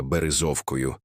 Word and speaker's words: Березовка: Згодом, у м'якій говірці місцевих вона перетворилася на березівку, але в серцях і на язиках багатьох так і залишилася березовкою з наголосом на першому складі, як відлуння тих давніх часів.